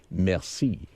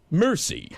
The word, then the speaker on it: merci: you look at it, you say merci. But when the way Brad pronounces it, it's really embarrassing. He gets it and he gets the bill and looks at it and says, mercy.